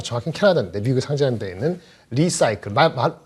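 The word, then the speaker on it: Li-Cycle: 캐나다인데 미국에 상장되어 있는 리사이클, 발음 그대로 리사이클 비슷하죠. 근데 여기서는 리는 사실 리튬의 리사이클이기 때문에 LI더라고요. LI죠. 발음은 비슷합니다.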